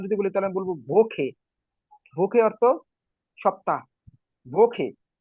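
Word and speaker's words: Woche: ইয়া ভোখে লাস্টে খর মত উচ্চারণ হবে নাকি হ্যাঁ কেন হবে আমি সেটা বলছি না খ কেন হবে সেটা আপনার একটু পরে বলতেছি ভোখে না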